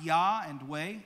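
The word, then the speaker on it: Yahweh: Lord God is pronounced Yah and Way, Elohim, the name to all generations.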